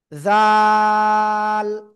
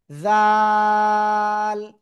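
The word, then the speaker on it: ذال: এই যে জাল, জিহ্বার আগা উপরে 2 দাঁতের আগে লাগাবো, লাগিয়ে এটা নরম করে উচ্চারণ করব, আর 3 আলিফ টান হবে, জাল, ঠিক আছে, জাল।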